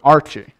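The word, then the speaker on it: ἀρχή: Beginning is the Greek word arche. Arche, that's how it's pronounced.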